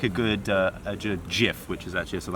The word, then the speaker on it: Jif: do like a good Jif, which is actually a South African Oh, brand. that's true. Not to be pronounced GIF.